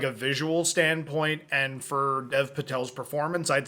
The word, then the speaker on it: Dev Patel: Dave Patel. Or Dev Patel. Not Dave Patel.